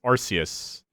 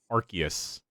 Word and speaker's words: Arceus: pokemon legends i want to say it as arceus but apparently it's pronounced arceus um and it's supposed uh they showed a